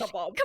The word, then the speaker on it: kebab: Actually, it's pronounced kebab.